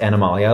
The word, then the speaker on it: Animalia: the dead Forest formerly Animalia okay we talk about that a little bit too and it's pronounced Animalia like the kingdom in biology well if you didn't